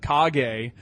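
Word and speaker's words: Kage: this is legend of cog a which probably much more popular on the NES than on an arcade but did you ever play legend of cog a it's mispronounced legend of cage K G yeah and you're basically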